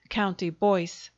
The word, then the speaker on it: Comtebois: For she was a Fitzstardon, a daughter of the ducal house of Comtebois, pronounced County Boyce, and she's very handsome still.